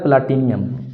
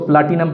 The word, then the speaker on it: प्लाटिनम: से मुराद होता है प्लाटिनियम, इसको प्लाटिनम पढ़ते हैं। एग्जैक्ट इसका स्पेलिंग जो है वो प्लाटिनम है, बाद इसको प्लाटिनियम भी पढ़ लेते हैं, लेकिन एग्जैक्ट क्या है प्लाटिनम।